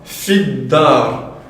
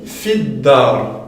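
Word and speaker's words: في الدار: Donc ici on dira fid-dar. Ici regarde, on avait fait la liaison du fi directement sur le lem, fil masjid. Ici on dit fid-dar. Pourquoi? Car tout simplement, dans les explications qu'on vient de donner juste avant, le del, est-ce qu'il fait partie de cette phrase mémotechnique? Non. Donc ce n'est pas une lettre lunaire, c'est une lettre solaire.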